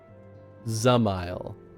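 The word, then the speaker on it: Dzemael: a son of house zile zile you don't pronounce the d a brute how quickly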